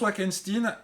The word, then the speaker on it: Wackenstein: on rencontre le professeur Wackenstein. Il le prononce Wackenstein. Je pense que c'est clairement une vane sur Frankenstein. Ça ressemble beaucoup trop Frankenstein.